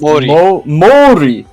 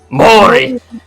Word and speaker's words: Mori: How's that pronounced? Mori. Mori, and defeated Akechi in the Battle of Yamazaki.